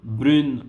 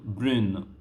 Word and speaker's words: brune: Brun, brun, brune, brune. Okay, here the pronunciation will be a bit different.